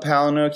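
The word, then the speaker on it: Palahniuk: his name to do the Rope Fight Club Palin hook he said and I don't know if this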